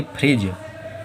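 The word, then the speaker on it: fridge: पहले आ रहा है तो फिर से डी साइलेंट है। इसे क्या पढ़ेंगे, फ्रिज।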